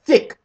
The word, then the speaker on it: Thicke: Thicke he's white yes thick his last name is thick which rhymes with dick which I haven't gotten since 1978.